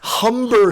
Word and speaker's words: Humber: Not Humber, Philip Humber, Sean. You got to say it right. Humber. Hard H.